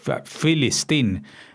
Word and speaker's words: Filistín: le atribuyen los árabes porque ellos no pronuncian la P, con lo cual lo que hablan es de Filistín y no de Palestine, que es una letra cuando es la inicial que no son capaces de pronunciar porque no figuran en la lengua árabe.